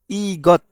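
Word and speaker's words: 이것: দিচ্ছি এটা কিভাবে হলো প্রথমে আমরা এখানে ই পেলাম ই আর গিয়ক যদি মাঝখানে বসে বা শেষে বসে তাহলে গ হবে তার মানে ই গ এখানে গিয়কের সাথে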